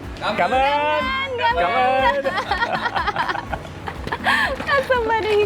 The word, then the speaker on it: cảm ơn: I meant cảm ơn. Cảm ơn.